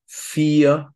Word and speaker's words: vier: The combination of I-E, is normally pronounced as a long E, just like in vier and sieben.